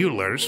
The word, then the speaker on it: Euler: carried out between 1730 and 1780 which solely Euler's work although he went completely blind at age